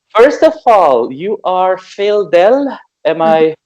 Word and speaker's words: Phildel: So first of all, you are Phildel. Am I pronouncing it right? Yep, that's right, Phildel.